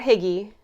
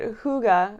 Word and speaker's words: hygge: It's not higgy. I know that. Phonetically, it's higgy. But hygge or hygge.